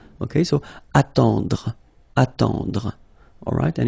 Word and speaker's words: attendre: Then, attendre. Attendre. Remember, final you don't insist on it, it just gives you the possibility to pronounce the dr, dr. Okay, so attendre, attendre.